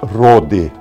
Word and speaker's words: Rohde: Meu nome é Rode. O Rode se escreve R-O-H-D-E.